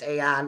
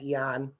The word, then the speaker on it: Aeon: It's pronounced Aeon. I don't know who said Eon.